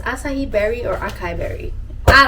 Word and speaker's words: acai: got i don't know if this word is pronounced asahi or akai but it's it's it's acai berry or acai berry i don't know but